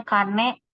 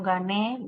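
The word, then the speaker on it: 金: Cara bacanya kane, kana, atau gane, gitu. Kin, kon, gon, gitu.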